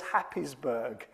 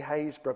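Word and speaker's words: Happisburgh: place called Hayesbor, but if you look at how Hayesbor is spelled, you wouldn't call it Hayesbor. It's a bit like Trosley. Um, it's uh called Has Hap, you might read it as Hapesburg. Um, but it is actually Hayesbor.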